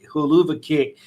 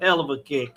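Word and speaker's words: Helluva Kick: It's not pronounced as hell of a huluva kick. It's supposed to be as a hell of a kick.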